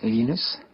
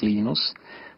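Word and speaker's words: Linus: lenus or lonus what's the exact your preferred pronunciation um when I speak Swedish it's lenus when I speak Finnish it's lenos when I speak English it's lonus and I really don't care how people pronounce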